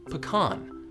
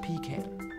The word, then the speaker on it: pecan: pie in the world, pronounced pecan, not pecan.